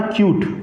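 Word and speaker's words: cute: कट था, कट में ई को ऐड किया, क्या बना? क्यूट. क्या बना?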